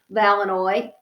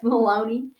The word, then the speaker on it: Maloney: Only hooray, hooray, because pretty soon our janitor named Gus Valanoy, Baloney, sorry, it rhymes with baloney. I always get caught up on this one. Only hooray, hooray, because pretty soon our janitor named Gus Maloney came rushing through the door.